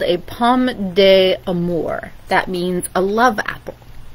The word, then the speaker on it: pomme d'amour: Thomas loved the apple, and it's pronounced pomme d'amour. There we go, pomme d'amour.